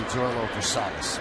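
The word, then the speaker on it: Zoilo Versalles: And I think it's probably Versailles, but there's no pronunciation guide anywhere on the internet, so I'm going to correct it and say Zoilo Versailles.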